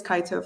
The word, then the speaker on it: Kaito: Should we take like 5 minutes just to say that it should be pronounced Kato, not Kaito, or at least from the British perspective? I don't know. I think it's Kaito for me.